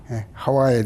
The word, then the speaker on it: 하와: 홍 으 시험과 가장 직결되는 여성 누구입니까 하와 하와의 대해서 엄마 말씀을 들으려고 하는 것입니다 예 것입니다